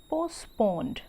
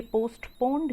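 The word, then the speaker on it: postponed: The execution पोस्टपोन्ड। अब यहाँ पर देखिए, यहाँ पर भी टी जो है साइलेंट होता है स्टूडेंट, ये पोस्टपोन्ड नहीं है, ये है पोस्टपोन्ड। Okay student, so he ordered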